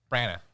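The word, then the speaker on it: Branagh: Brana.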